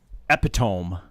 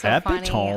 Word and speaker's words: epitome: like what word is he's like epitome and I'm like no oh that's epome I'm like let me see how it's spelled so he shows me I'm like you mean epitom who's ever spelled epitome